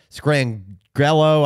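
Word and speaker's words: Scangarello: a first-year coordinator but rich skrang grello I think is how you pronounce his name he's a Shanahan guy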